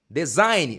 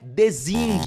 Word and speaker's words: design: deixar claro para você como que se pronuncia e como se escreve a palavra design design não é desing por favor vamos deixar